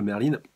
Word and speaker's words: Merlin: que c'est vrai que Merlin reste un personnage très très mystérieux, enfin Merlin ou Merlin, c'est vrai qu'il y a les deux prononciations qui sont possibles, mais vous, si vous